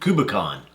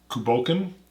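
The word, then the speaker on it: Cù Bòcan: We got us Tomatin Cu Bocan.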